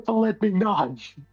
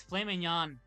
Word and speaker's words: filet mignon: Actually, if you want to say it incorrectly, it's filet mignon. Mignon, yeah, because there's a G in there. Who ordered the filet mignon?